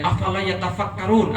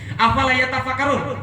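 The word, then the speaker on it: أفلا يتفكرون: Cuma kalau orang Indonesia bacanya agak halus. Dan afala yatafakkarun, artinya apakah kalian tidak berpikir? Kan gitu kan ya. Afala yaqilun, apakah kalian tidak mempunyai akal? Kan gitu kan ya. Padahal harusnya bacanya bukan begitu. Afala yatafakkarun, woi mikir nggak?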